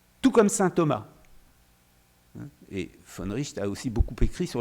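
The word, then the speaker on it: von Wright: collègue finlandaise est dans la salle, mais Georg von Richt, ça s'écrit von Reit, si on le prononce à l'anglaise, qui est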